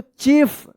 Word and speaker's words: chief: THE द CHIEF देखिए यहां पे अब IE एक साथ है तो इसका क्या उच्चारण होगा? रूल्स में आपने पढ़ा होगा तो बता देंगे आप, इसका ई उच्चारण होगा, ठीक है। तो क्या पढ़ेंगे इसको? चीफ।